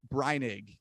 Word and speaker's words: Breinig: Look at, so it's Breinig? Breinig. Yep. Breinig.